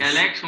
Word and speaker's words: Alexon: Alexson mesmo a pronúncia?